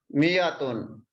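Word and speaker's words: مائة: this you see here there is a alif we don't pronounce this alif it is pronounced we pronounce it like this miyatun in syria also written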